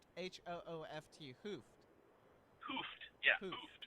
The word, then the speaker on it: Hooft: Van Hoot? Yep. Did I say it right? Hooft. H-O-O-F-T.